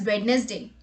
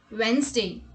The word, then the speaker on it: Wednesday: we have in a list is wednesday people pronounce this word as wednesday but this is not the correct pronunciation the correct pronunciation is wednesday now let's look at the examples tomorrow is